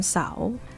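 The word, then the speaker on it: เสาร์: Rising tone because Sao Sua belongs to high class, right? One Sao. One Sao.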